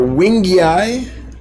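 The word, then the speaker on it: wingei: different species um uh endlers are wingy eye i believe is how you say it and um guppies are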